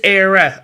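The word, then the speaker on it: Éire: So you're saying E-I-R-E? Is Era.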